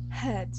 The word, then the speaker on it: head: to say uh head head good so here uh what you're doing is you're pronouncing a t at the end saying head okay head all right